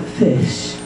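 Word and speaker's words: ghoti: invasion is pronounced then the word g-h-o-t-i is pronounced like fish and um this little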